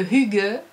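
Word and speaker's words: hygge: un phénomène collectif euh ils appellent ça le HUG alors euh moi je dis le hig et du coup je pense que je mettrai plutôt le son i que u mais euh ça s'écrit h y g g e et vous en avez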